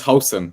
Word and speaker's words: Huijsen: Apparently, what's it's the pronunciation? Hausen. It's Hausen. That's what I was told. Yeah, I don't speak Dutch, so your guess is as good as mine.